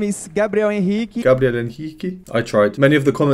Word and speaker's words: Gabriel Henrique: Where I'm from, we'd call him Gabriel Henrique, but I notice he says that differently, so I'm going to try and pronounce it correctly. My name is Gabriel Henrique.